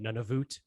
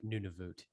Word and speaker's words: Nunavut: Nunavut.